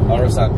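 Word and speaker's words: Øresund: Is that how you pronounce it? Oresund, yeah.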